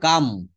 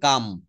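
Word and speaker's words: calm: আইম সাম আমি শান্ত এটা উচ্চারণ করব ক্লাম এটা হচ্ছে কাম। এটা উচ্চারণটা হবে কাম। সি এ এল এম। এখানে এলটা কিন্তু সাইলেন্ট থাকবে।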